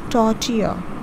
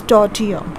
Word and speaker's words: tortilla: with the celery filling so this is you pronounce it as tortilla see it's tortilla i'm sorry i don't know i'm sliding down